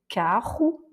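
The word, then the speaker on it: carro: effectivement ça veut dire avec le 2 R on a un R raclé carou et ici quand il est tout seul et en milieu de mot on va voir karou.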